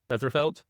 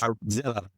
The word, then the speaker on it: Zellerfeld: Westerfeld, probably closest. It's Zellerfeld. All I think right.